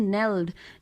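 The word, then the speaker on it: knelled: अननेल्ड, एक नेल्ड नहीं है, इट इज़ नेल्ड, ठीक है, के साइलेंट है।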